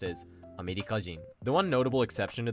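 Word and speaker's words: アメリカ人: Chugoku being pronounced as Chugokujin, and America being pronounced as Amerikajin.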